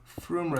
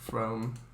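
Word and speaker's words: Frome: Marky, Froome has a nice wooden roof. Alright. Nice. I'll have a look. Froome railway station. Oh yeah. Inside the train shed. There's a picture. And you pronounced it right.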